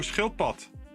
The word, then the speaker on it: schildpad: It sounds like, yeah, shield toad.